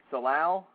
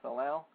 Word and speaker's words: salal: is something in Oregon called uh salal s a l a l i guess that's how it's pronounced salow which grows on hillsides